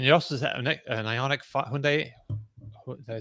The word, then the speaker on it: Hyundai: pronounce it you know in the uk it's like hyundai and he's like it's hyundai like sunday so i'm just going